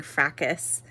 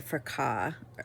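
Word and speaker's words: Fracas: I just realized that I was saying frackus and I think it's actually fraka. Um it's French. I think the perfumer is Robert P. Um so fraka is probably actually how you say it, not frackus.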